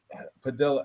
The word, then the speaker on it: Padilla: Padilla is Padilla, right? Because 2 L's is a Y. Pronounced as a Y.